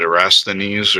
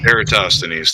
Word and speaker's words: Eratosthenes: of people like to claim that I can't pronounce the name but erasthenes or whatever the one that pronounced eratosthenes thank yous proves the globe no no my